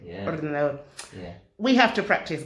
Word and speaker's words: ordenador: La R al final se pronuncia fuerte. Yeah. Ordenador.